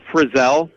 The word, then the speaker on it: Frizell: Yeah, it's Frizell. Not like Frizzle with the magic school bus.